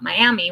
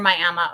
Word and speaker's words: Miami: I just learned that it's pronounced Miama not Miami when it's in Oklahoma but uh near Miama Oklahoma and then we